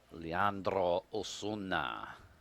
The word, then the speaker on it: Leandro Osuna: Well, Leandro Osuna is how we say his name.